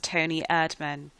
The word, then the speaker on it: Toni Erdmann: I said it right a german comedy called tony admin and i did actually have secretly high expectations